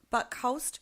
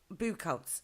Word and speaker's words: Buchholz: She's got Elijah Buckholst from Apex Paranormal, Buchholz, sorry. Oh, sorry, I didn't pronounce that right at all.